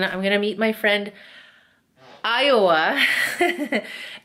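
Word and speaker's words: Ayawoa: And then I'm gonna meet my friend, Iowa. It's spelled A-Y-A-W-O-A. Very weird. But she's like, no, it's Iowa, like the state.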